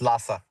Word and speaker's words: Lasa: Is it Lassa or LSA or Lassa? Yeah, it's Lassa.